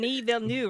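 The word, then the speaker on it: Villeneuve: actually learned how to say his name Den V new right yeah yeah okay I have finally learned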